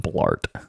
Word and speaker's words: Blart: have to name him Blart Paul Blart it rhymes with fart Blart fart it's like bloat and fart yeah combined bloated fart it's a Blart um but